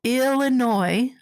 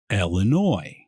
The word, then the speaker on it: Illinois: From Chicago, Illinois, welcome to Beer in Front.